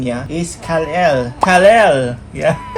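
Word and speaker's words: Kal-El: Kryptonian name niya is Kalel. Kalel. Yeah. Parang Kalil pero e. Oo Kalel. So yeah. Ikaw pala si Superman B. Kal L yung pag-pronounce nila pero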